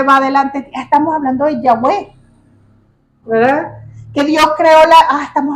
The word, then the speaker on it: Yahweh: Yahweh, que también se pronuncia Yahvé, es la pronunciación más aceptada por los eruditos y estudiosos bíblicos para el nombre original en hebreo.